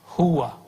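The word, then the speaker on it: هو: Huwa. Ya. Tapi dari dulu kita bacanya hu.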